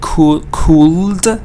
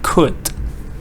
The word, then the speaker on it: could: So I don't say could. No. I say could.